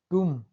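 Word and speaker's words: tomb: यहाँ पर टुम, टुम्ब नहीं पढ़ रहे हैं।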